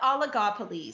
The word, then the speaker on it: oligopoly: we talk about monopolies and give me the pronunciation again. Yeah. No, we're talking about oligopolies.